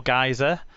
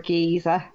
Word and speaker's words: geyser: to the Old Faithful Geyser. Is that how you pronounce it? Geyser? Yeah. Geyser? I think it depends who you are as to whether it's a geyser or a geezer.